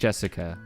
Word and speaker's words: Jessica: Anyways, that's pronounced Jessica.